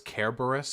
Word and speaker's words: Cerberus: People giving you shit about Cerberus don't understand it's a Greek word, so it's Kerberos if you want to be a pedant about pronunciation.